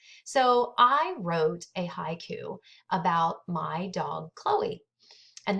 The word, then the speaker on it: haiku: It's spelled Haiku, but it's actually pronounced haiku.